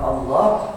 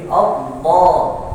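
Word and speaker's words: الله: Nah kalau baca kalimat Allah ya itu kan sebenarnya memang dibacanya bunyinya o. Tapi kan dia fathah. F fattahan ya. fathatan. Fath itu terbuka. Jadi Allah jadi tetap terbuka bukan monyong. Wakinallah enggak diirinya enggak ikut maju.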